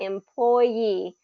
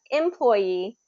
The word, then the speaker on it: employee: that employee so uh with this word you can have it first be first syllable stress employee or you can have employee okay it has a French origin so um sometimes that last syllable is the one that gets the the stress in it all right okay so